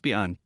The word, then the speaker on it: biang: The boss couldn t stand it any longer and said, It s pronounced biang, it s called biang biang noodles.